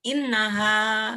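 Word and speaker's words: إنها: ha dan Alif ya tapi Alif di belakangnya itu mati innaha gitu bacanya inaha Tapi kalau ini ini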